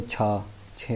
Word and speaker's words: q: तो स्टार्ट में आपने याद रखना है कि जे को प्रोनाउंस करते हैं चाइनीज़ में चे छोटी है ची, और क्यू को प्रोनाउंस करते हैं छे छोटी है छी, और एक्स को प्रोनाउंस करते हैं शीन छोटी है शी।